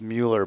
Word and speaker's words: Miller: know their go tender Nathan Miller pronounced Mueller by the way his last name is Miller Nathan Miller uh 29